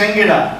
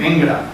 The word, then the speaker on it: Enguera: Dossá, dice que es Enguera y que la gente exagera pronunciándolo. Semejante carácter esdrújulo, llegando a decir Engra.